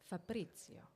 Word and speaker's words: Fabrizio: it was a struggle to have my name pronounced correctly okay so I'll do it again Fabrizio yes perfect it's okay well fa Fabrizio uh